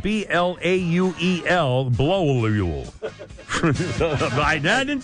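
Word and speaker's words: Blauel: It's spelled B-L-A-U-E-L, Blowlule.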